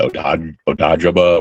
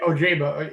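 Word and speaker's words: Ojabo: I like the reclamation projects that he brought over from the offseason, with Uche and was it Odajaba or whatever, how you say his name? Yeah, Ojaba.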